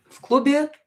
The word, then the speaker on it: в клубе: As you can hear, I pronounce this V as F. В клубе. В клубе. Because I have a consonant here followed by another consonant.